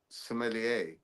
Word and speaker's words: sommelier: because he's meant to be the resident sommelier. or as you Yeah, pronounce that's it, true. sommelier. You basically Somalia. say you send him to a North African country.